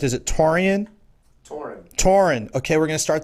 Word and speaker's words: Taurean: not only Taurean, let me make sure I'm pronouncing it correct. Is it Taurean? Taurean.